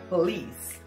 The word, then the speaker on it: police: Cola e se fala eu não usa é Police Police a tônica EA não lê tá feliz